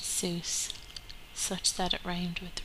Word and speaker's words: Seuss: IGN ignominy his name is mud Dr Seuss pronounced Seuss such that it red with Rejoice so Dr